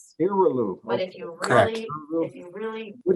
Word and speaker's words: Iralu: Iralu, pardon me would you correct me on how to pronounce? No worries. Yeah, my name is Dr. Iralu. Iralu.